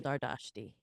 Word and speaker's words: Dardashti: But I like Dardashti because I think it's pretty, and that's how it was pronounced in Iran.